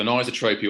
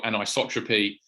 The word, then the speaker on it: anisotropy: So anisotropy or anisotropy, it's a little bit like vitamins and vitamins, Adidas and Adidas. It gets all sorts of different pronunciations, but it's ultimately it's an artifact of ultrasound.